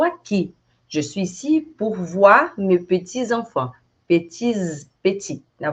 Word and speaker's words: voir: Então, voar, né? O som do a. Você vai ouvir muito o. E comment ça s'écrit avec O-U. Então, voir, que é ver, voir. C'est le verbe voir, ver.